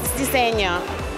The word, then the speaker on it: Diseño: So can you pronounce the name of the brand correctly? MT Dance Diseño. Is that okay? Like Diseño.